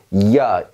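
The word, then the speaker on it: Jahr: 없는 스펠링처럼 무시해버리는 겁니다. 자 보세요. 얘는 이야, 1년 할 때 년을 의미합니다.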